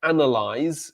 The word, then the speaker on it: analyze: So analyze is the verb to analyze, analyze, analyze, ending with the z sound, and analysis, analysis, analysis.